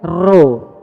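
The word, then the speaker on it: rho: Kalau P di dalam bahasa Yunani bacanya ro.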